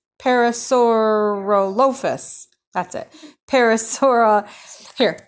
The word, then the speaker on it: Parasaurolophus: they were there this one is called a Parasaurolophus Parasaurolophus that's it Paris hora here look Parasaurolophus I've said that dinosaur his name wrong all the time I always called it